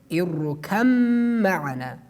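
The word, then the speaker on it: ارْكَب مَّعَنَا: In the condition that the ba should have a sukun at the top, we delete the ba and we pronounce mim with a tashdid at the top.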